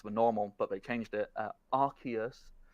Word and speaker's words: Arceus: but they changed it Arceus it's apparently Arceus sounds too much like you're saying ass that's an actual thing they changed the official pronunciation because it sounded too much like the word ass and let's be real